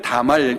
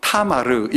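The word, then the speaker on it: 타마르: 이름이 다 말 입니다 우리 성경에는 다 말 이라고 되어있지만 힙 우리식으로 발음을 하면 타 마르기 입니다 총류 나무를 따는 탐 하루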